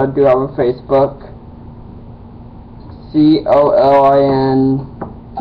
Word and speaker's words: Colin: do have a Facebook c o l i n it's my first name it's pronounced Colin and um before want to